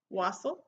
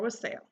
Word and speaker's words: wassail: had to go online you can pronounce it two ways Wasel or what sale I don't know but even that was iffy sometimes it was the Wasel was the American Way I tried like four